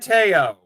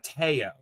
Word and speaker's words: Teo: It is in fact the Teo. That is, I've seen some people who posted online, including our friend Jeff Gomez, made it abundantly clear that is how it is pronounced. It is Teo.